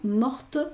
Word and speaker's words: morte: Pero en el caso de la T, mort no se pronuncia, morte sí cuando con el femenino.